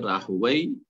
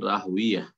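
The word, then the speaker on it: راهويه: ইসহাক ইবনে রাহওয়াই, এটা হচ্ছে একটি উচ্চারণ এই রাহওয়াই শব্দটির, ইমাম ইসহাক রাহমাতুল্লাহের পিতা রাহওয়াই, আর আরেকটি হচ্ছে ইসহাক ইবনে রাহওয়িয়া, দুটো উচ্চারণ এতে রয়েছে। রাহওয়াই যেমন প্রখ্যাত আরবির গ্রামারের পণ্ডিত সিবওয়াই, ইমাম সিবওয়াই, নাহুর যে বিদ্বান বা পণ্ডিত, তাকে সিবওয়াই বলা হয়, ঠিক ওই রকম রাহওয়াই।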